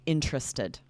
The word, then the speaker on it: interested: those tricky ones where most native speakers are going to say interested, right? We're changing it to 3 syllables, or interesting, making it 3 syllables, partially because it's quicker. But so this is so common that it does sound off to us. It sounds like a mistake to pronounce each syllable and say interested or interesting, right?